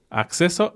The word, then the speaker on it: acceso: Algunas palabras que sí tienen doble C y que por lo tanto hacen ese sonido X son acceso occidental y accidente. Y de hecho, pues si te das cuenta, si tú eres hablante nativo de inglés, es exactamente el mismo sonido de esa parte de la palabra, acceso, access, ¿no?